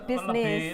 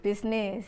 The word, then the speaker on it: bisnis: sudah berubah Nih misalnya dari bahasa Inggris ya tulisannya kan bussiness kemudian di eh di sana jadi bisnis bersama ucapkan Smash bisnis saya bisnis jadi pengucapannya sudah mengalami perubahan Hai tulisannya juga disesuaikan